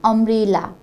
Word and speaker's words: umbrella: Here this word umbrella is also started with U, but in this word we pronounce this U as A. In this word U is pronounced as U, but here we pronounce this U as A, umbrella.